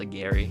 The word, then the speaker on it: Aguirre: I think people say Aguirre, but I think like in Spanish it's pronounced Aguirre, and I just fixed the camera.